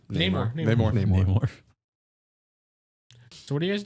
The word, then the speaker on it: Namor: Is that how you pronounce it? Namor. Namor.